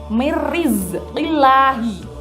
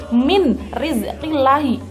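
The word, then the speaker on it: مِنْ رِزْقِ اللَّهِ: Lafalnya berbunyi mirizqillahi. Ada non mati, depannya ada ro. Berarti membacanya harus masuk, tidak boleh min rizqillahi, itu salah. Nah, penjelasan idgham bi gunnah dan idgham bila gunnah adalah seperti itu.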